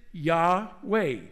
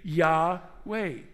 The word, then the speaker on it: Yahweh: screen why wh w we pronounce it yaw way same with me yaw way and from yahweh we